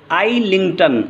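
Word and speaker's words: Islington: stanza number two के बारे में देखिए, अब आप इन आइलिंगटन, अब यहाँ एस साइलेंट है, इन आइलिंगटन, आइलिंगटन एक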